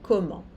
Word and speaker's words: comment: Elles vont à Paris comment? Né? O S aqui não se pronuncia, aqui o vont, o T não se pronuncia, Paris. O S não se pronuncia, comment?